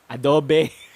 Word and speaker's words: Adobe: the same pronunciation adobo adobe but if you want to take things more seriously you put a little bit of emphasis on the o sound in the middle and that is a